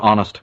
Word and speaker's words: honest: it like the word honest for instance right has an H in front of it but you barely hear it well that's why the